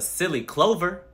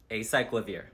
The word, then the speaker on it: Acyclovir: I recently got off a silly clover. And what was that for? Herpes? Acyclovir.